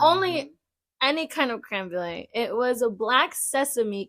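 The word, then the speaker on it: crème brûlée: say it like Creme. creme brulee from the back of the throat. not cram, like cranberry.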